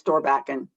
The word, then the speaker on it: Storbakken: She usually says Storbakken. Or Bakken, okay.